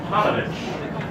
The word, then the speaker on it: Paunovic: Paunovic, pronounced Panovich.